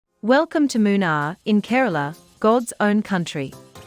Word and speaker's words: Munnar: It is pronounced Munnar, short for Munu-ar, meaning three rivers.